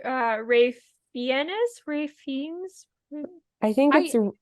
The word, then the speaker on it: Ralph: a girl who's dating a British guy named Rafe and I thought that was insane I was